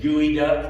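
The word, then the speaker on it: geoduck: will never eat like the ones that the gooey duck they pronounce it's like what kind of duck is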